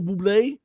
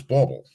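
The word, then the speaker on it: Bublé: Michael Bobble bobble Buble Michael Buble that's it that's how you pronounce it now yes Michael Buble for a while it was bubble well it could be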